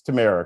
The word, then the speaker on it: Tamara: a couple of times it's tamara correct camera like cameron camera i'd so i had it right the first time okay i hope i